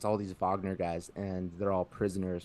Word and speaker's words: Wagner: Wagner, why is it called Wagner? It's spelled Wagner, but it's Wagner because it's German.